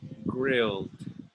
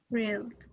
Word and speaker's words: grilled: favor repeat after me grilled grilled one syllable grilled and steamed steamed and